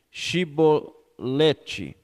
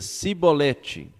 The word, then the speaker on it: Shibolete: E dizendo ele: Não, então lhe dizia: Dize, pois, Shibolete. Porém ele dizia Sibolete, porque não o podia pronunciar bem.